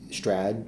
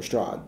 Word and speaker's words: Strahd: The two main ones be like be Strad or Strahd, right? Yeah. And both are fine, but that, I think